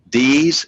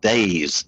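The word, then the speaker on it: Deas: that you're pronouncing is ds is actually pronounced days d-a-y-s okay we'll see i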